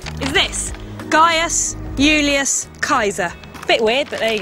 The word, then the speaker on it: Gaius Julius Caesar: And in fact, the way you pronounce his name is this: Gaius Julius Caesar.